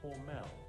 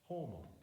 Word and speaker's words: Hormel: not homegrown when announcing Hormel was closed. Doesn't sound bad, does it? Nevertheless, the switchboard lit up because in Austin, Hormel is actually pronounced by its family name, Hormel, a big-time lesson learned about the power of local pronunciation.